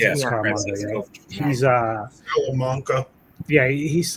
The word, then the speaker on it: Scaramanga: Is that how he pronounced it? Scaramanga.